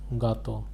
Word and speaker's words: gâteau: This is l'accent circonflexe. It is pronounced as gâteau.